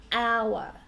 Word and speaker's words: hour: So in our, H is a consonant, not a vowel, but in this word we say our. So this is really a silent letter, and the first sound is our, which is a vowel sound.